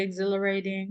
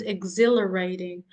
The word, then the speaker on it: exhilarating: And guys, remember that H is silent. So it is not exhilarating. It is exhilarating.